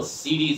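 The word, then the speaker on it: city: সিটি বলবো না, কি বলবো? সিডি সিডি সিডি সিডি সিডি সিডি সিডি। ওকে, সিডি।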